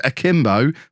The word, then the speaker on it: akimbo: almost used it correctly the adjective akimbo pronounced a kim bo